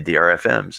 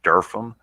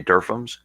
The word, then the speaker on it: DRFM: your drfms um and it's not pronounced drfm by the way it's pronounced darfum so if you hear me i'll transpose those two words but you'll hear people say derphams and that's what they're